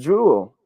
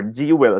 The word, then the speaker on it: jewel: should be pronounced as jewel not jewel or gee well at some times we say zero sometimes or do well but it should be pronounced as jewel a one-syllable word now if we put